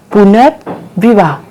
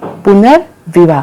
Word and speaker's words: पुनर्विवाह: तो जब हमने उसका उच्चारण किया तो हमें साउंड कहाँ पे आया, पुनर्विवाह, तो हमारा यहाँ पे आ रहा है साउंड पुनर्विवाह, तो ये कहाँ लग जाएगा, इस मात्रा के